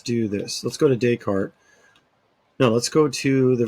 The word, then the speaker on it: Descartes: chapter 17 Rene Descartes I know some of you are thinking de cartes nope Rene Descartes you don't the S is silent and then 18 Hobbes